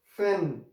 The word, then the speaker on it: schlafen: Now you see that sh is coming at the start. sh, lafan, schlafen, schlafen.